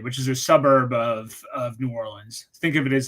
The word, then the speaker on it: New Orleans: Well, and there is a correct way, I believe, to pronounce New Orleans. It's New Orleans, something like that. Well, so if you're from New Orleans, you just say it's New Orleans. Yeah. So like that's how we pronounce it. We will make fun of you if you say New Orleans. New Orleans, like you're gonna get ribbed for that one.